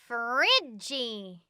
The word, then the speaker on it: fridge: h is silent rhombus fridgey this word has two silent letters the d and e we say fridge iceland nope the s is